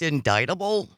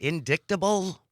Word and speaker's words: indictable: an indictable crime um it's actually pronounced indictable an indictable crime not not indictable small thing but then